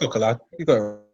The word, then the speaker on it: Coquelin: Never knew how to pronounce that guy's name. Always Yeah, different. it's Coquelin.